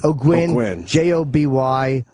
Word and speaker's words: Ogwyn: Ogwyn.